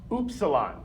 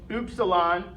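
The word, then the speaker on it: Ypsilon: pronunciation is the longest Y in German is pronounced oilon okay oilon is how we say the letter Y last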